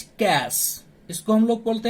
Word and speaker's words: cache: Okay, so in session 3 topic 4 कैच memory. Today is our topic कैच memory. कैच memory is pronounce as कैश.